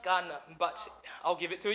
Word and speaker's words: Cannes: It's pronounced Cannes, but I'll give it to you.